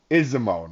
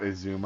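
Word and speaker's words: Izumo: or on on uh isimo not isuma I've been pronouncing it wrong the whole time that's kind of what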